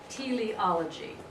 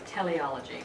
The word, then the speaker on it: teleology: Anyway, T-E-L-E, like television, but T-E-L-E-O, L-O-G-Y, teleology.